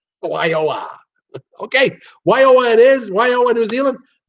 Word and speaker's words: Wairoa: That's how you pronounce Wairoa. Wairoa.